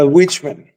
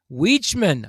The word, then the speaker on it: Weichmann: Is it pronounced actually Wikman? Uh Witchman. Witchman.